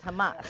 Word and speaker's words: Hamas: I pronounced that right because I always say hummus because I like to eat hummus, but it's Hamas.